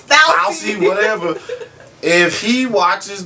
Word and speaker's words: Fauci: I think Fossey means as well, but are we saying his name right? I don't know. Listen, wait a minute, you got me saying it wrong. If Dr. Fossey, Fousey, whatever his name is. It is Fauci.